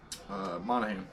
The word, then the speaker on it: Monahan: Monahan.